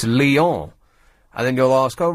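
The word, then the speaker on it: Lyon: French name's wrong like if I said I'm going to go all lions they' say oh don't be so common it's Leon and then you'll ask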